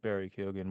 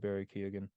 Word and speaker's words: Barry Keoghan: feel like you're trying to say his name with an Irish accent, but keep it American.